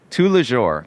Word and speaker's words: Tous les Jours: So, tous les jours. Oh, am I pronouncing it right?